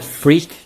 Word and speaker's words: FRIQ: So I call it FRIQ just because of the Italian pronunciation of FRIQ.